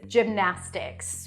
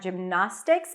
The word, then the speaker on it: gymnastics: Lips for the M then we have na that's the primary stress that's the a as in cat not gymnastics but gymnast and then